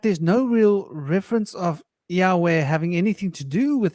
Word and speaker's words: Yahweh: to be a moment the name which which which we're pronouncing yov which I don't think is correct I think it's more like Yahweh which is more like e a o u it's the five vowels in a string it's the it's never